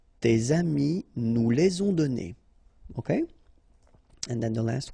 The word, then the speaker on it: donnés: Okay, so the good news is that you don't pronounce it, so donner, okay, so whether it would be without this final es or with E-S, you will pronounce it the same way.